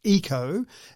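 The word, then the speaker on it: Yiko: and its name is eco spelled y-i-k-o but pronounced eco and so you would say okay eco come and clean up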